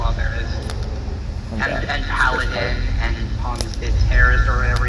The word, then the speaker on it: Pomme de Terre: And Paladin, and Pomme de Terre, or whatever it's called. Pomme de Terre? That's how you say it. It's French. Yeah, Pomme de Terre, whatever.